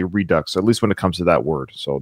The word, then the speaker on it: Redux: as a French person I do pronounce the X in Redux so I was pronouncing it wrong it is Redux Robin thank you so